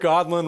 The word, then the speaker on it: Aadland: go first so godlin running to be your next representative my name's an odd name with two A's just remember that that's how you pronounce it I'm a combat veteran